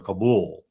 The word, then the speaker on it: Kabul: He didn't even know how to pronounce Kabell or Kabul as most people say. I think most people in the region call it Kabell.